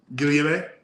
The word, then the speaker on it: Guillaume: Guillaume. Oh, I like that. Do it again. Guillaume. Guillaume. If you pronounce the L's, I love it.